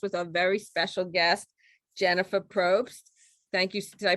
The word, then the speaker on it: Jennifer Probst: the page podcast with our very special guest jennifer probst thank you did i pronounce that right yes you scripted it perfectly